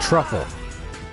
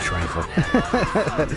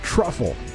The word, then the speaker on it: Truffle: Yeah, truffle. Yeah, I said trifle. Look at me with my misspelling. It's truffle.